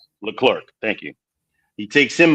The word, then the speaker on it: Leclerc: Leclerc.